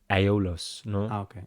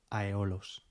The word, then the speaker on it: Aeolos: Eh bien, je pense que je l'ai prononcé comme Aeolos. Je dis Aeolos.